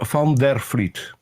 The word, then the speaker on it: van der Vliet: Peter van der Vliet. Fleet. So that V is like an F? Yes, a soft F.